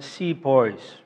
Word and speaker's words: Sepoy: the anti Hindu game are often described as see poise as you know as ce pas he is